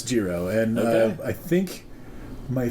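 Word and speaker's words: gyro: man here i am out here being like euro hey man it's it's a pretty common thing but yeah apparently according to these guys it's jiro and uh i think my folks who have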